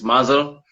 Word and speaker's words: Mvzzle: I mean, look, but your stage name is Mvzzle, man. I've never. First of all, am I saying it right? And how did you get that name? Oh yeah, you are saying it right. It's Mvzzle.